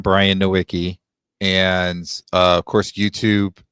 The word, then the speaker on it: Nowicki: So my last name is Nowicki, Nowicki. It's Polish. It's actually supposed to be Nowicki, but nobody understands that's how you pronounce it.